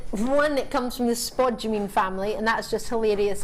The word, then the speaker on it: spodumene: But the main love for me for this is the fact that, one, it comes from the spodumene family, and that's just hilarious to say.